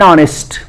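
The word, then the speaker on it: honest: एन ऑनेस्ट, ऑनेस्ट में एच व्यंजन है, कॉन्सोनेंट है, लेकिन उसका उच्चारण ऑनेस्ट स्वर से हो रहा है, तो उसके पहले एन ऑनेस्ट हो जा रहा है।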